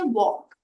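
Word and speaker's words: walk: उसी प्रकार से वॉक, अगर आप वॉक शब्द देखेंगे तो उसके स्पेलिंग में जो L है वो साइलेंट है।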